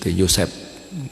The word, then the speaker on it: Yusuf: Bahkan nama Yusuf ini pun sudah banyak disukai oleh manusia pada pemeluk agama samawi, bukan hanya Islam sehingga pengucapannya biasanya agak miring sedikit, bukan Yusuf, Yosef gitu ya.